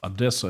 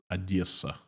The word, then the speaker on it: Odessa: Well, Odessa, it's not the right pronunciation. It's called Odessa. You have to soft E, Odessa.